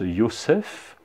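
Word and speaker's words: יוסף: elle va l'appeler joseph joseph dans l'original se prononce yossef et c'est une ya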